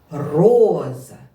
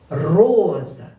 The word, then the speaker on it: роза: молодці Ви завданням справились поставте наголос на перший склад чи на другий склад падає наголос роза роза наголос падає на перший склад На яку голосну На голосну О все вірно роза наголос падає на перший голосний о скільки складів в цьому